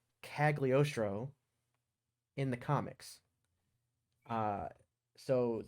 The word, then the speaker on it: Cagliostro: have to read it to say it correctly cagliostro in the comics uh so the comic book